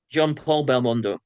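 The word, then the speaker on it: Jean-Paul Belmondo: to get correct me if I get the name wrong Jean Jean Jean Paul Belondo or Jean Pierre Belondo what's the name Jean Paul Belondo Jean Paul Belondo and of course uh the ultimately uh tragic lead actress.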